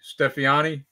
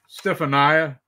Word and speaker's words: Stefania: And same with Cassini, Stefani. Is that how you say her name? Stefania.